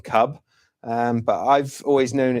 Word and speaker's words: Kubb: it's about k-u-b and I think it's actually pronounced Cube rather than Cub um but I've always